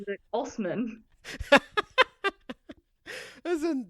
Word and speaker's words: Assman: He says he pronounces it Assman.